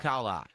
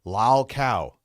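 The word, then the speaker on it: lolcow: LolCal. And Why? Lol. Why do you add an AH unnecessarily to things? It's so lol cow. That's how you say it.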